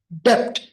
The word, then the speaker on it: debt: Number 1 इज, the word is not debt, the B is silent.